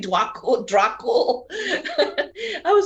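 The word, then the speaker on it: Djwhal Khul: So Alexis last time asked me if I would talk about the Ascended Master Dwakul, because I invoke him a lot and whatever.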